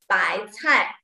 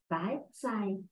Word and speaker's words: 白菜: English is pronounced K, you are right, but Chinese, this being C-I, Cai, Bai Cai, Chinese cabbage. Bai cai.